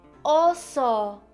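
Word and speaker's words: oso: it's a bear but in Spanish it's an oo oo with an O oo and these are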